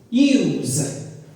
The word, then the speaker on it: use: When it's a noun, it makes the sound s.